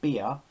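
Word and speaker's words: Bhaer: In the book, it says that it's pronounced somewhere between Bhear, the drink, and Bhear, the animal, in a way that only a German accent can achieve.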